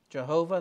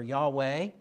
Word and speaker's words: Yahweh: We aren't pronouncing it properly. We're giving the anglicized version of it because we can't speak Hebrew and we can't get those guttural sounds that we need to get for Yahweh.